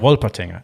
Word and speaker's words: Wolpertinger: It's called a Wolpertinger A Wolpertinger. Wolpertinger, yes, indeed. Yeah, right. But in this particular book, for instance, there's a Wolpertinger, and this is a white cat with duck wings and antlers, right?